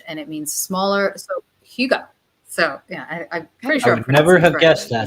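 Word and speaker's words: hygge: so there's this Danish word and it's called huga and it's a word it means cozy in Danish and it means smaller. So huga. So yeah, I'm pretty sure I would never have guessed that's how I pronounce it.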